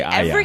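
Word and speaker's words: Arya: Tony is listening right now and cringing every time you say Aya. Listen to the show. They pronounce it like that all the time.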